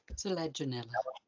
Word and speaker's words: Selaginella: Next is Selaginella. I can never say that one. Does anyone want to jump in and tell me how to say it properly? Selaginella.